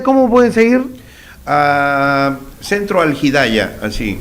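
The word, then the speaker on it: Al-Hidaya: Ah, centro algidaya, así. ¿Y cómo se escribe?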